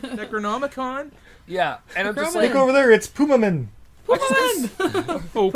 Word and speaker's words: Necronomicon: And the kid references Evil Dead, but he can't even properly pronounce Necronomicon. Necronomicon. Because he's like, is that a Necronomicon? Or something like that. Necromanin? Necronomicon?